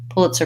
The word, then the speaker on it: Pulitzer: then an ER sound pull it sir first syllable stress pull it surprised I'm gonna have secondary stress on pull and primary stuff stress on prize that has the I diphthong and Izzy Pulitzer Prize yeah thank you okay